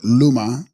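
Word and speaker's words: glu-ma: Tibetan Gluma, pronounced Luma, and Snang Salma, pronounced Nang Salma.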